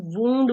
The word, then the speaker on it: wound: अब again the same with same spelling, लेकिन जब हम इसको वूंड बोलेंगे तो ये नाउन होगा.